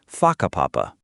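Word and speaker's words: whakapapa: You'll hear locals casually talking about places like haka papapa, pronounced faka papapa.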